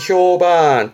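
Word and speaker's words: 評判: 왜냐면 발음이 바뀝니다. 발음은 효반 뜻은 그렇죠. 평판 발음이 반갑니다. 반. 이때부터 조심하세요. 평판에 효반. 효반.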